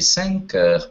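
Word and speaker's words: cinq heures: Добавляем слово «эр» и произносим вместе «сэнкэр» – 5 часов.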